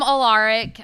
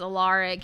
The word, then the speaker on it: Alaric: says his name is Alaric, he says, you'll probably want to pronounce it Alaric. But it's Alaric.